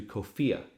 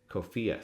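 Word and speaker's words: COFEA: founding era american english it's abbreviated to kofiya kofiya c-o-f-e-a that rhymes with sophia kofia contains over 100 000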